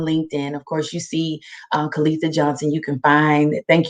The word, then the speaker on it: Kaleitha: It's pronounced Kaleitha. A lot of people like to say Kaleithia, and I get it.